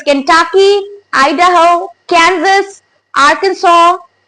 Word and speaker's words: Arkansas: So it's written as Arkansas, guys, but when we speak, the pronunciation would be Arkansas. Arkansas.